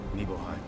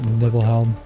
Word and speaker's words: Nibelheim: older, I started pronouncing the name right because I could read. But when I was younger, I was reading it all sorts of fucked up. I called it Nibelhelm.